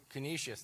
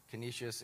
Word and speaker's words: Canisius: Canisius, that's how you say it. Canisius, and the fourth one is?